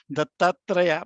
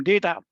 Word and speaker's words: Dattatreya: My brother's name is Dattatreya. No Americans can pronounce it. They used to call him Data.